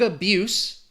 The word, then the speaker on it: abuse: Drug abuse, again, we're talking about that S. Abuse, because it is a noun. Drug abuse is a serious issue, and nowadays people abuse, with a Z, opioids. So abuse, the noun, abuse, the verb.